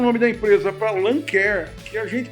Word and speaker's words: Lancair: Aí ele mudou o nome da empresa para Lancair, que a gente pronuncia errado, e muitas vezes os americanos também pronunciam errado. A pronúncia correta para Lancair é Lancer.